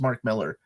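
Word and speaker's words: Mark Millar: Miller like people have told me it's just Mark Miller it's not marar I always pronounced it marar and then people are like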